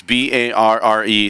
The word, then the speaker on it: Barre: So it's Barre, but it's just pronounced bar.